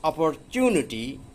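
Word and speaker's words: opportunity: সো ইফ you learn English, কাজে তুমি যদি ইংরেজি শেখো, you have the best অপরচুনিটি, এখানে অপরচুনিটি বলা হয়, অপরচুনাটি উচ্চারণটা মূলত টু ফাইন্ড এ গুড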